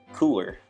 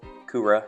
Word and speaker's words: Cooler: that was announced yesterday, also known as Cooler, or Kura, however you want to pronounce it.